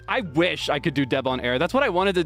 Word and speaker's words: Debonair: tag Deb on air because it spelled the same as Deb on air tragically my last name is also a regular word I don't know if